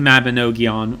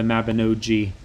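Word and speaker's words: Mabinogion: my current favorite it's the mabinogi on or the navin OG if you pronounce it correctly in the Welsh I think I'm getting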